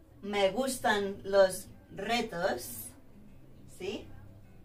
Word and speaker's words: reto: Por ejemplo, Roma, o me gustan los retos, ¿sí? Al principio de la palabra, the beginning of the word, the sound is a strong one, R, Roma, reto, ¿sí? If you've got the R